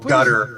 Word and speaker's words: Qatar: So they put Gutter, as they pronounce it these days.